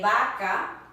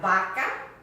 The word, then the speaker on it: vaca: So this V is pronounced just like you would a B. If you do want to do it like English, that's okay too, sin problemas. You have vaca, cow, vacío, which means empty, vacío.